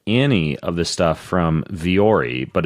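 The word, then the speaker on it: Vuori: look really good that's what I like about viori though is I can also wear these uh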